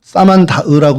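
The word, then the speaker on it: Samandağ: 실루기아가 한군인데 어 근데 이게 사만다흐라고 이제 사만다으라고 읽는 이제 터키어로 그렇게 읽어야 되는데 어 이게 사만다흐가 현재 그곳의 이름입니다.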